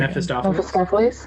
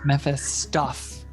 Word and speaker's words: Mephistopheles: How do you pronounce it, Kyle? I'm going to butcher it. Mephistopheles. Mephistopheles.